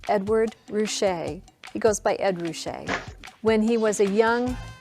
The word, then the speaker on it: Ed Ruscha: his white t-shirt the artist's name is pronounced edward roushay he goes by ed roushay when he was a young what you might